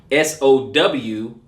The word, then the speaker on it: Samhain: Samhain is like, it's spelled Samhain, right? But it is pronounced Sowin, Samhain, right?